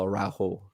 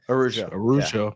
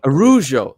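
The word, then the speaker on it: Araujo: it would be a Raphael AO. I'm not sure how to say it. Raphael Arujo. Arujo. Oh, I wasn't close. I wasn't even close.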